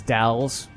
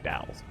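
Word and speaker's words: Dalles: And yes, it is Dowell's. I looked it up, and even though it's spelled Dallas or Dallas, it rhymes with pals, so Dowell's.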